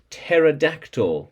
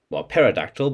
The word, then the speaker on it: pterodactyl: jumped and bt and pterodactyl the silent p not well paradictal but pterodactyl pterodactyl let's try and get